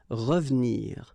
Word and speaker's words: revenir: So you've got re and then ve and nir, but then clearly you don't pronounce it, so you get revenir, revenir.